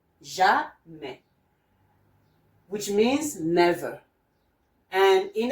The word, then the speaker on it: jamais: lesson today, which is the J and A, which makes the sound ja. So your sound ja is here, but by now you will be getting more vocabulary, and you know this one is pronounced jamais, jamais, which means never.